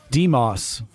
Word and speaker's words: Demos: Demos. Like the Greek. Okay, fine. Demos. Demos it is.